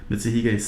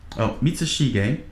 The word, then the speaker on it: Mitsushige: The young page, however, was more interested in running off to play Mitsuhige's son, Mitsushige. I keep mispronouncing it. My apologies.